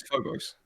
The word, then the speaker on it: Phobos: no, Um, I learned it's Phobos. oh, okay, got it. It sounds like if you say Phobos with a British accent. Yeah, Oi, Phobos. Phobos.